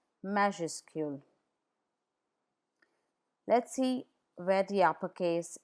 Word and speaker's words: majuscule: Please note that the final S is not pronounced in majuscule.